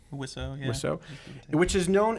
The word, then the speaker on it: Wiseau: Wiseau, yeah.